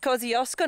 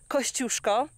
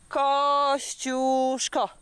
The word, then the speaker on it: Kosciuszko: name, because it's actually Kosciuszko. Yes, I know, not many Aussies can actually pronounce that. I'm gonna give you a Polish lesson now. Okay, you ready? Kosciuszko. One more time. Kosciuszko.